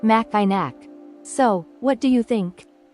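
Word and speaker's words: Mackinac: might want to say maak but that's incorrect the C is silent so it's actually pronounced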